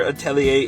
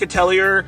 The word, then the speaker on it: Atelier: ryza 3 and yes I'm pretty sure Atelier is how you pronounce it I know it looks like a Tellier but I don't think that's right so yeah all right